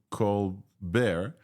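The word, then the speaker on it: ColBERT: happens in there and the benefit here of Co bear finally I'm pronouncing this correctly Co bear is that instead of embedding one time it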